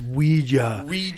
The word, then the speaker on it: Ouija: a little boy named david no and it's pronounced ouija and it comes from the german and french